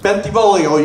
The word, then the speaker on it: Bentivolio: pronounce my name correctly you gotta sing it when you say it bentivolio you try I can't